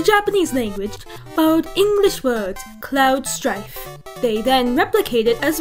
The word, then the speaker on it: Cloud Strife: name they the japanese language followed english words cloud strife they then replicate it as well as they